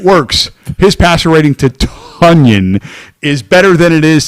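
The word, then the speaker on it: Tonyan: Tunyon. It's like onion with a T. Can I call him Tanyan, please? But it's Tunyon.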